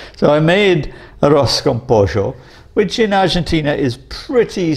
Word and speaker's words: pollo: In Argentina, we pronounce them je. So I say yo soy. And I don't say mayo, I say mayo. And I don't say pollo, I say pollo.